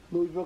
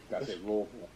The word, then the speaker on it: Louisville: Louisville, Kentucky. Let's do it. Gotta say it right. Louisville. You know, other people say Louisville.